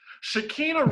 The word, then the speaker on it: Shekina: they are not friends anymore because i think shaquina opened her mouth is that her name shaquin am i saying it wrong does it matter you're right shakina recently spoke out about really that you right